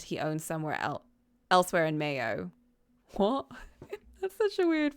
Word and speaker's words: Mayo: Name is from Irish Mago, pronunciation Mayo. Oh, much like condiment.